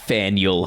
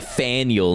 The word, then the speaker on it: Faneuil: It's pronounced like Daniel with an F. No, you're lying. It's not Faneuil Hall. No, they wouldn't do that to us. Hey, I'm going to the Faneuil.